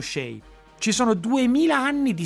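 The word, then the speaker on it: Chelly: il Canyon de Shay è scritto c h e l l y quindi dovrebbe essere Shelly ma in realtà è pronunciato shei Ci sono 2000 anni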